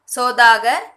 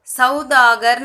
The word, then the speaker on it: सौदागर: ஓ சவுண்டும் औ சவுண்டும் மிக்ஸ் பண்ண மாதிரி தான் சொல்லணும். சௌதாகர்னு சொல்லாமல் சோ சோதாகர். சோ ஓ சவுண்டும் இருக்கக்கூடாது, औ சவுண்டும் இருக்கக்கூடாது. சோதாகர் அப்படி ப்ரொனவுன்ஸ் பண்ணணும்.